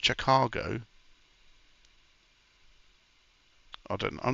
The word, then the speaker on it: Chicago: So it's pronounced Chicago.